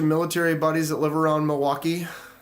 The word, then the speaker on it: Milwaukee: a bunch of military buddies that live around Milwaukee it's it's pronounced milwauke it's El gonin for the motherland